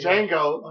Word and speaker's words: Django: all right what's that Django right okay you know what I'm saying the D is silent you don't say the candy that's a crazy ass